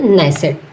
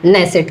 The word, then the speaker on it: Knesset: तो नेसेट। इसकी स्पेलिंग आप याद रखना, नेसेट की KNESSET। क्या है? KNESSET, नेसेट।